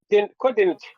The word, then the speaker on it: couldn't: now in that phras in that word couldn't which word gets all of the attention couldn't couldn't the first okay how about forget